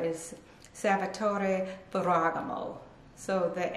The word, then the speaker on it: Salvatore Ferragamo: making leather shoes and most know most people pronounce it um salvatore ferogamo but the correct pronunciation let me see if i can get it right is salvatore ferragamo so the f is kind of like you're